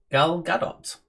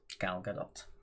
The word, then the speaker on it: Gal Gadot: tea it is spinning gal gadot gal gadot okay so you do pronounce it with the t yes i think it's